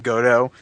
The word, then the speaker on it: Godot: Yeah, Godot, well, that's pronounced Godot, if you have to know.